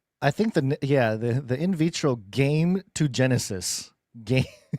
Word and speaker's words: gametogenesis: think the in vitro game to Genesis game. I know that's not pronounced that way. Oh, I see. Yes. Gametogenesis. It's game, like a game.